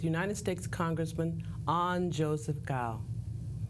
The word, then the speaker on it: Cao: um first of all my last name is pronounced gal it's spelled c AO but it's pronounced like g w so gal gal gal